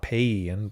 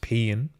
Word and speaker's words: paean: Pean, so the AIE combination is, again, I guess, supposed to be pronounced with like a double E. Paean, so not Paean, but just Pean.